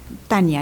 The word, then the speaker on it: Tania: Yo creo ¿Es Tania o Tanja? Tania está bien. Tania. ¿Y cómo se dice en holandés? Tania. Es muy parecido.